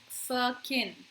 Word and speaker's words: firkin: Very much a word, but it's pronounced as firkin.